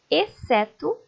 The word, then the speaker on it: exceto: México deixar muito bem o x também aparece em algumas palavras só para marcar posição sem indicar som algum Leiam comigo exceto exceção excelente perceberam que essas palavras o c é pronunciado o x acaba ficando sem ser pronunciado como tem o C ali apenas aparece o som dele mesmo OK agora vamos estudar a